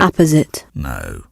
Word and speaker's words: apposite: This is the way they say you should pronounce it. Apposite.